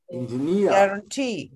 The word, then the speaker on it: engineer: Engineer. Guarantee. See, now do you observe? The stress is on the last syllable.